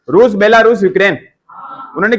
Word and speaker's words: यूक्रेन: यूक्रेन, Ukraine लिखा, वैसे यूक्रेन होता है, इसे यू आता है इसमें, अपन इसको उच्चारण में यूक्रेन बोलते हैं, किताब में उक्रेन लिख रखा है।